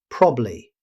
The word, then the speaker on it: probably: In everyday speech, native speakers rarely pronounce every syllable. Instead, you'll usually hear probably. Short, smooth, and natural.